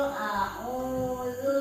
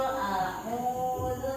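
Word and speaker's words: أعوذ: Qul a'udzu birabbin nas. Di sini ada alif, ada ain. Jadi harus ada perbedaan tempat mahrizul huruf alif dengan ain. Ain ini di tenggorokan. Qul a'udzu birabbin nas.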